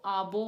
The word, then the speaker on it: आबो: बी अब्बू means dad वो अब्बू नहीं वो आबो वाला है आबो प्रोनाउंस डिफरेंट है बोडो लैंग्वेज में बी